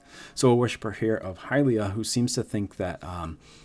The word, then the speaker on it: Hylea: So yeah, first of all, it's pronounced Hylea. I was putting the emphasis on the wrong one.